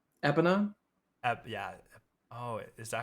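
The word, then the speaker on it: Epona: name ocarina epina yeah oh is that how you say it I always said I think I always said a pono like pono people say it either or epa okay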